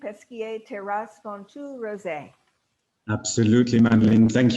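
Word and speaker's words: Pesquié: is wine number two the chateau did i pronounce it correctly peskier terrace rose absolutely madeline thank you very much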